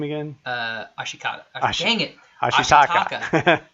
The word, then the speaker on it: Ashitaka: He preferred a different title for the movie called The Legend of Ashikata. And Ashitaka. Jeez, can't even say his name. Ashitaka.